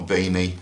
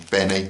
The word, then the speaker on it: beanie: of gloves work gloves Benny hat not a beanie a Benny hat same thing but the correct pronunciation is Benny but we'll have that